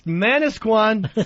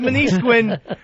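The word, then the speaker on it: Manasquan: Yeah we have manquan New Jersey that is and and people who come out of it uh usually call it manisquin. Oh is that right? Yeah. And then people are like it's manisquan not manisquin you [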